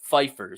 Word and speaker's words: Pfeiffer: I wanted to bring this up, Larry, because Mark, I think the P is silent. Pfeiffer says Kyle will convert any quarterback into a game manager by imposing his rigid system on them, Larry.